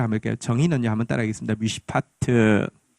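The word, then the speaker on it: משפט: 미시파트.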